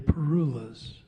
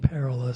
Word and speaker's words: parula: parullas, are they parullas, or are they parullas? All of the above. I grew up saying parula, so that's what I say, and nobody's going to tell me otherwise. But really, any of those pronunciations is okay.